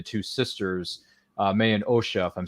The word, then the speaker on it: Osha: relationship between the two sisters uh May and OSHA if I'm saying that right please excuse me if I mispronounced that no you got it may anosha